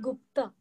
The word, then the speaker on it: Gupta: No, Gupta. I think it begins with Gupta. Gupta. Pratibha Chatura. No, yeah, it is in the Parakya, no? Parakya Prouda. It begins with Gupta.